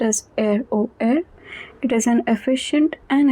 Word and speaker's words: RER: Le réseau express régional, commonly known as ROR, pronounced as ROR.